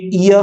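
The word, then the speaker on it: ear: जैसे कि ये ईयर है, ईयर, ईयर नहीं होता, ये होता है ईयर, ईयर।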